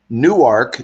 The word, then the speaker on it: Newark: studio there um in Newark Delaware it looks like Newark but it's pronounced new ark new ark okay and